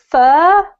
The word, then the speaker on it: fur: So the first word is fur, then we have far, then we have for. Fur, far, for. For, far, for. That's better. This one rhymes with the word her, right?